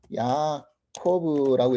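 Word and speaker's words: יעקב: 근데 이제 히브리어로 야코브라고 이렇게 발음하거든요.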